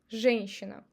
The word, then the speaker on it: женщина: We don't try to say женщина. We just replace ye with e and say женщина.